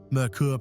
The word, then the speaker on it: Merkur: a completely new sub-brand, Merkur pronounced like Mercury, but in German, based on the European Ford Sierra RS.